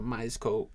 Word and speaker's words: Myerscough: And just for it's spelled MYERSCOUGH, so Myers Co College and University.